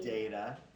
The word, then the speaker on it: data: Now, sometimes you'll hear this word pronounced slightly differently. Some people will say data. I say data.